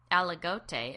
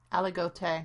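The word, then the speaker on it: Aligoté: Chardonnay, but the um algote, is that's how you say it, right? Allegote. Yeah, alote. Alote. You got to look at what the accent is. Yeah. Alote.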